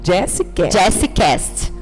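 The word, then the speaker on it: Djessicast: Jessicast. E como pronuncia tudo pra eles? É Jessie, né? D-J-E-S-S-I Cast. C-A-S-T.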